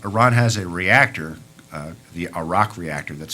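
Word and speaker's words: Arak: then there's plutonium Iran has a reactor the a rock reactor that's spelled a-r-a-k the the spent fuel rods of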